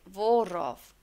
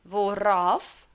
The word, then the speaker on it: worauf: Formula is, whenever you are using a R between, like worauf, then you have to look out for the preposition first.